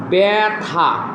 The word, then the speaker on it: ব্যথা: যেমন দেখো ব্যথা এই বটা শব্দের শুরু। এই বটার সাথে জফলা আছে। এখন এটা ব্যথা উচ্চারণ হবে না। হবে ব্যাথা।